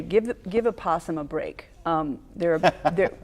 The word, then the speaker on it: opossum: from up north is opossum this an opossum opossum I think people people use the nickname opossum don't like to pronounce the Opie in front of this what's what's this critters